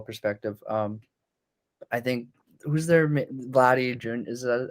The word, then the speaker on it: Vladdy Jr.: Well, from a distant baseball perspective, I think who's their Vladdy Jr. Is that how do you pronounce his Yep. name? Yeah, you got it. Vladdy Jr.